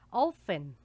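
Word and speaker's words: often: los adverbios de tiempo ofen ofen vean que yo no pronuncio la t acá digo yo no vengo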